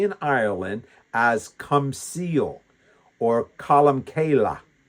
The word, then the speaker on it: Columcille: That's why Columba is also known, especially in Ireland, as Comcille or Columcille uh with the Irish accent.